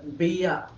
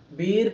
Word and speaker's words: beer: Van with బియా, చూడండి బిఏ బియా, బీర్ కాదు, బియా bottles over turns.